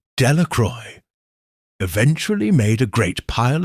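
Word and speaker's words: Delacroix: The villagers pronounced this name Delroy eventually made a great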